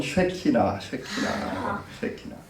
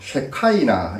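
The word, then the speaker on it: שכינה: 이게 바로 히브리어는 쉐키나. 그래서 좀 부드럽게 하려고 보니까 쉐카이나 이렇게 얘기를 하기도 하는데 발음은 쉐키나에 더 가깝습니다.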